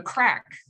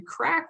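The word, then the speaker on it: craic: It's pronounced like the word crack.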